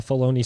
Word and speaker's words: Filoni: I don't like bologna, even though it rhymes with Filoni.